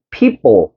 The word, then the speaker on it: people: 근데 사실은 원어민들은 이거 그 모음 사이에 끼은 피 끼인 피 발음은 뿌 발음을 내. 알겠지? 쌍비읍 발음을 낸다고. 그래서 people 요렇게 발음한다고.